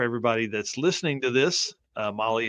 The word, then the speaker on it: Mahle: And for everybody that's listening to this, Molly is spelled Mahle, and you can find everything.